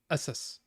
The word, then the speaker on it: ASUS: old ones Pegasus essis the company folks say you have to say it like Pegasus so Asus Asus assus assus I'm